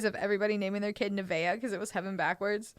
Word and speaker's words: Nevaeh: naming your kid yeah and how do you pronounce that yeah nevaeh nevaeh i had like three nebeas in my